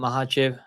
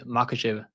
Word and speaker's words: Makhachev: guys we got Islam mahv MV mahv is it mahv or is say makv I think mahv right Dagan say mahv Islam Mah versus makv Mah I think Mah the K is silent maybe so guys we got